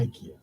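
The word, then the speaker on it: イケア: あそこの発音はイケアなんですって。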